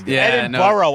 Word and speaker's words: Edinburgh: Ron is doing Edinburgh, which is the proper way to say Edinburgh. I used to say Edinburgh and people the people from Scotland would say, "It's Edinburgh." Yeah, I say Edinboro. It's Edinboro.